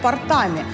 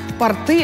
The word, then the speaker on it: порты: Запомнить это ударение могут помочь морские и речные порты. Часто их совершенно несправедливо называют портами. Порты – это широкие штаны, а вот порты – места для стоянки и разгрузки судов.